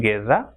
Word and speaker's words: guerra: If GU comes together, it will be pronounced as ge. If after U comes E, for example, guerra, and it will be pronounced